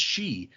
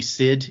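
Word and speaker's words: sidhe: where I realized oh that word is pronounced she I still say Sid in my head because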